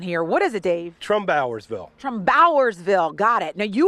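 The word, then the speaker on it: Trumbauersville: I met Dave, who was outside, and he corrected me on how I had to pronounce this small town here. What is it, Dave? Trombowersville.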